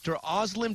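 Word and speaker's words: Özlem Türeci: UGUR SAHIN (PRONOUNCED OOH-GER ZAW- HEEN) AND HIS WIFE DR OZLEM TURECI (OZ-LEM TOO-RETSI) CO-FOUNDED BIONTECH AND DEVELOPED THE VACCINE.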